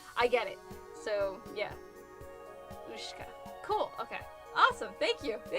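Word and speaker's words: Ушка: The Y is pronounced. Ooh. The thing that looks like a W is she. And is sh. And the K and the A are both pronounced as in English. Ka.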